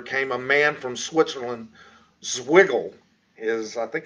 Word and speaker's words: Zwingli: Following Italy's golden tongue orator came a man from Switzerland, Zwiggle. Is, I think how we pronounce that. Zwingli.